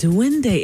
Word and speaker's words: Duende: Duende.